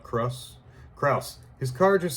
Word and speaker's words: Kraus: Kraus, not Kraus.